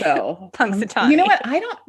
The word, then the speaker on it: Punxsutawney: I literally wrote it out phonetically. So, Punxsutawney.